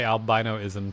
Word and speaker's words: albinism: Albina. Did I say it right? Yeah, you said it right. Alvinism. People also say albinoism, too. But uh I I think albvinism is the correct one.